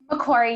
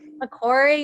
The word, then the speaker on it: Macquarie: remind me leanne one more time how to pronounce correctly please macquarie university macquarie university loyola university of chicago so i'm excited